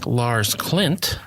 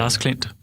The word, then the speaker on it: Lars Klint: You say it very American, but that's okay. I'm used to that. So, how would you say it then? Lars Klint. Oh, Lars Klint.